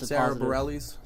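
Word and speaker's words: Sara Bareilles: yeah so i mean i guess that's sabrellis it's spelt like barely so i guess that's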